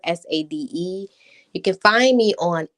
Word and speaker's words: Sadé: And then Sade is like the singer, Sade.